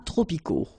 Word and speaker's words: tropicaux: Final X not pronounced.